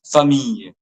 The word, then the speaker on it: famille: Then famille. Not famille. Famille. Not like that. It's famille. Famille.